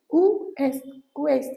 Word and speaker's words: ouest: Otherwise we do not pronounce the last word, but in ouest we pronounce it. So it is ouest.